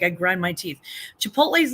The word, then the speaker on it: Chipotle: me freaking crazy crazy it's even spelled like with the T before the L and it's Chipotle it's Chipotle Holly you know who